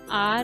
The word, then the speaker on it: hour: An hour has passed. In this case, you use an because the H in R is silent and the noun actually begins with the vowel sound O.